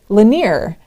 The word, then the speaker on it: Lanier: I asked, how do you pronounce this? And they said Lanier, Mrs.